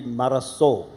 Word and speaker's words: Marazzo: you know in uh if you talk to a Spanish speaker here he will say that it's actually maraso in bass because the in Spanish I have a is I have a Spanish speaking grandson now so I'm an expert on this but frankly the double Zed is more Italian but that we felt